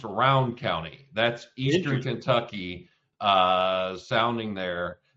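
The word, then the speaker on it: Rowan County: We pronounce it round. Really? I never knew you guys pronounced it different. It's pronounced Round County.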